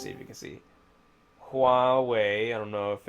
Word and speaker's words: Huawei: I would say Huawei because it's, I guess how you pronounce it, not Hawaii or Hu.